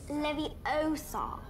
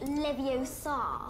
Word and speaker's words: Leviosa: of a thing you're saying it wrong it's Levy Osa not Leviosa so Val would like